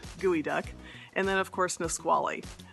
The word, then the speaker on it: geoduck: So that is not a bird, it's actually a bivalve that you would find buried in the beach, but it is gooey duck.